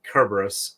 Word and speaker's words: Cerberus: them that because uh Cerberus or actually Cerberus in Greek because they don't have a soft C Sound um at least an